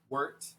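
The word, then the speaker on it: wort: so remember um it's we call it worked w-o-r-t pronounced worked yeah the whole bag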